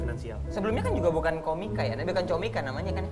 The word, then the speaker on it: Comika: Karena awalnya kita masih keseringan ini komika atau Atau comika Iya, sih. sebenarnya cara bacanya Komika, tapi gue pengen orang aware cara nulisnya. Makanya gue ngulang-ngulangnya Comika. Gitu. Comika. Suatu hari kita akan bacanya Komika juga.